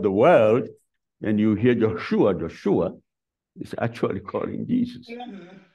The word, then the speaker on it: Yeshua: father named him Joshua Joshua in Hebrew is pronounced Yeshua which means actually means Jesus so if you are in in that part of the world and you hear Yeshua Yeshua is actually calling